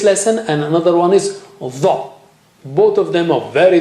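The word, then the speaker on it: ظ: And the other one is dha with the tongue tip touching there near the edge of the upper teeth.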